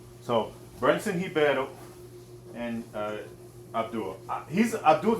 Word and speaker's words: Ribeiro: Y'all love saying that name. Hiebatal. He's Brazilian, so that's how you pronounce the R for those of you guys that don't know that. So, Brenson Hiebatal and uh Abdul.